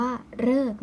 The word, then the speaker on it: ฤกษ์: เสียง ว่า เรอ ซึ่ง คำ ที่ จะ ออก เสียง ตัว เหรอ เนี่ย มี เพียง คำ เดียว ค่ะ นัก เรียน คือ คำ ว่า ฤกษ์ นะ คะ อัน นี้ จะ จำ ง่าย มาก เลย เพราะ ว่า ออก เสียง หรือ มี แค่ คำ เดียว คือ คำ ว่า